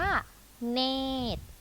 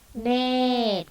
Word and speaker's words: เนตร: ไหร่ ท้าย ใช่ อ่ะ คำ นี้ อ่าน ว่า เนตร อ่าน พร้อม กัน นะ คะ เนตร ขา ซึ่ง คำ นี้ นะ คะ อย่าง ที่